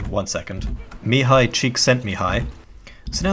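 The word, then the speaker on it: Csikszentmihalyi: mahali how the do you pronounce his name one second mihai cheek sent me high so now it's time to discuss the extrinsic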